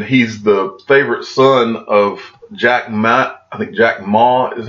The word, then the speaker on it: Jack Ma: And he's the favorite son of Jack Ma is how you say it, over that started Alibaba, which is the largest company in China.